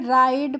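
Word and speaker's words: ride: हम राइस पढ़ते हैं यहां पर जो आई का प्रोनाउंस हो रहा है वोह आई करके हो रहा है इसीलिए राइड और राइस पढ़ते हैं ठीक है और जो इनमें लास्ट में ई होता है इनका हम प्रोनंसिएशन नहीं करते हैं तो आप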